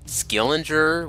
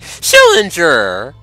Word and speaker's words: Schillinger: Just like a certain character named Schillinger of Oz, they keep on mispronouncing his name. And they keep calling him Skillinger, whatever they call him, and Schillinger be like, Schillinger!